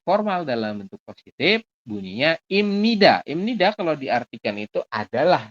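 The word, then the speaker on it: 입니다: Ini dibacanya apa? Imnida. Bukan ibnida. Masih ingat ada biap di akhir ketemu dengan nian, maka biap dibacanya adalah M. Jadi kita bacanya imnida.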